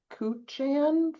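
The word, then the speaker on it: Kuchan: And it's Cuchon.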